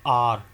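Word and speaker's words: hour: मैंने ऊपर बताया था एन is used before आर। आर इसमें एच साइलेंट है।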